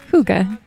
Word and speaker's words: hygge: we are talking about hooga hooga hooga okay that's the american way to pronounce it okay let's talk about